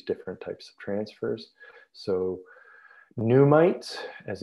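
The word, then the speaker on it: NUMTs: that defines these different types of transfers so pneumites as it's pronounced these is these are fragments of mitochondrial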